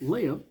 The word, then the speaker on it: Leia: Leia we are told how to say it Leia is not gray but he talks to her